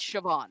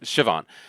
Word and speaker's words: Siobhan: her name I I think it's pronounced Safon. I'm really really bad with with it's Siobhan. Siobhan.